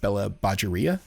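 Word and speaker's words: Bela Bajaria: pronounce this wrong but bella badgeria i believe is is how she pronounces her name but she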